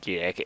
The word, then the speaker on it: Gide: It's Gide. I keep trying to pronounce the G the wrong way.